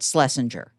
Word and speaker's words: Schlesinger: anglicized and it is we pronounce it Schlesinger as if there were no CH but it screws with